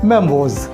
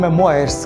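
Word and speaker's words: memoirs: पहला शब्द है बायोग्राफी, दूसरा है ऑटोबायोग्राफी और तीसरा है मेमोज, जिसको आप अधिकतर बोलते हैं मेमोयर्स। क्या बोलते हैं? मेमोयर्स, बट इसका जो राइट प्रोनाउंसिएशन है वो है मेमोज। क्या है? मेमोज।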